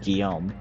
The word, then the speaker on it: Guillaume: Well, I learned how to pronounce the guy's name, Guillaume. That was kind of close to what I was trying to say, right?